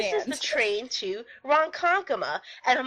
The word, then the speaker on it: Ronkonkoma: She still couldn't pronounce it, and I It was don't like get why. Ronkonkoma.